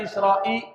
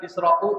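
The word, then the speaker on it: الإسراءِ: Kenapa dibaca israi bukan israu? Israa karena dia mudhaofun ilaih.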